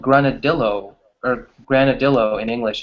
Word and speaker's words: granadillo: Because in English we don't pronounce the two L's as the Y in Spanish. So people will probably say granadillo, which is really Ah, funny. yeah, like el.